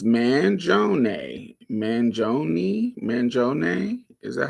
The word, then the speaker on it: Mangione: But I don't know how to pronounce that shit. How you say it? Mangione.